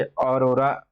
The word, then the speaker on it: aurora: देखिए, अभी एक न्यूज में है ये अरोरा, अरोरा ऐसे करके उच्चारण है, लेकिन थोड़ा सा इंग्लिश ध्यान रखेंगे। AURORA, ठीक है।